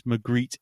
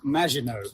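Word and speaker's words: Maginot: I think think of it as the USS McGreet anyway. But you're wrong, Martin. It's not the Mcgreet. It's it's pronounced Majino.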